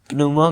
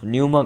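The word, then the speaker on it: pneuma: उन्होंने प्यूमा का न्यूमा का पी साइलेंट होगा।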